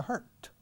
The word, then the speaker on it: hurt: Se escribe H-U-R-T, hurt, como un hurto, pero con H, quitando la O y aspirando la H.